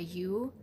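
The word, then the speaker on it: yew: The dark needles of like a U, I think that's how you pronounce it, Y-E-W, I think that's U, I think that's how you pronounce it, is like the death of the previous year.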